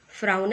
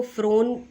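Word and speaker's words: frown: फ्राउन at somebody. Correct pronunciation is फ्राउन. बहुत लोग इसको फ्रोन बोलते हैं जो कि गलत है, और सही प्रोनाउंसिएशन फ्राउन.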